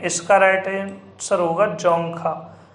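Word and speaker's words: Dzongkha: तो आपके 4 ऑप्शन दे रखे हैं, इसका राइट आंसर होगा जोंगखा। अब इसमें डी साइलेंट रहता है इसलिए इसको जोंगखा कहते हैं।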